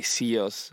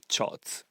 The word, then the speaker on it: CIOZ: is chots but most of the people say CEOs or science or whatever so many people actually get it wrong but the real pronunciation is shot I'm a DJ and producer from Italy and I'm doing this job since 2015.